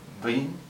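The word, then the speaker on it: វិញ: If you pronounce it as a straight W, Win, that's also incorrect. It's actually a mix between two of Vinh, Vinh.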